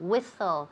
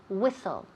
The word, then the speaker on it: whistle: to whistle to whistle whistle the H is completely silent so we just say whistle to whistle all right